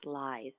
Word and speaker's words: Ley: We our family has the nickname of the Honest Lies. It's spelled Ley. So that's how we teach people to say our name because nobody likes to call us liars.